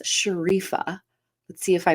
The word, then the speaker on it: Sherifa: how to pronounce her name I think it's sharifa let's see if I pronounced it correctly please welcome sharifa to the show Good morning yeah Shera sherifa is easy right it is I just didn't